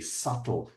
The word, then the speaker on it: subtle: Um, there's a deep smokiness layered with subtle with a silent B, subtle subtle with subtle vanilla um, giving it a complex lingering finish.